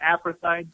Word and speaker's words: apartheid: Florida wasn't an apartheid state, or how do you pronounce that word?